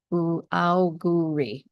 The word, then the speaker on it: Auguri: Auguri.